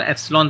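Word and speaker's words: epsilon: 1/4 पी ऐप्सिलन note ये ए नहीं पढ़ेंगे इसको इसको अब्जॉलोन पढ़ेंगे शायद पहले बार देखो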